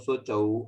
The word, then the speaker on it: शुचौ: उच्चारण श्लोक पढ़ते समय अशुचौ नहीं बोलेंगे, है ना। अच्छा ये अच्छा। आ जो हाँ, हाँ। अग्रह का निशान है ना, ये पढ़ते समय नहीं आएगा, ये जब संधि विच्छेद करेंगे तब आएगा।